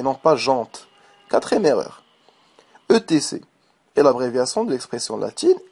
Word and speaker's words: etc.: Alors prononcez-le Jean et non pas jante. Quatrième erreur. ETC.